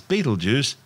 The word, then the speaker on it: Betelgeuse: sting on orion's shoulder currently known as battlegrounds and commonly referred to by the public as beetlejuice don't say it three times the names of birth tortured mispronunciations of the original arabic name iptalyaza meaning the hand of the big man the big man being orion the hunter located